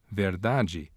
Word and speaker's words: verdade: This occurs in Brazilian Portuguese whenever a word contains a DI, as in dia, or a TI, as in chia, which means ant. Palatalization also occurs in Brazilian Portuguese whenever a word contains a final unstressed DE, as in verdade, which means truth, or a final unstressed TE, as in brilhante, which means brilliant.